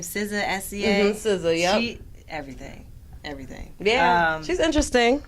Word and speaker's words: SZA: Okay, so I love, how do you pronounce her name? SZA, S-C-A? SZA, yep.